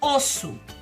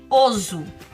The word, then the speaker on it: osso: Osso é com dois S's. Por quê? Porque se eu tiro um S, eu fico com oso. Vendo? Oso. Então, eu tenho que prestar atenção no som da palavra que sai da minha boca. Osso, dois S's. Oso, um S.